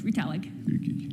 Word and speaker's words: Retallick: am I pronouncing that correctly? Is it? Very close, Retallick.